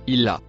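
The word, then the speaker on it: إلا: Le mot rouge après le violet se prononce illa.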